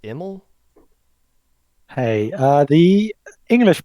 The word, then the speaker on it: Emil: am i pronouncing that correctly is it pronounced emel hey uh the english pronunciation is a bit different from the dutch or the sweet swedish one where anything is fine really i would say but anything is fine no no not anything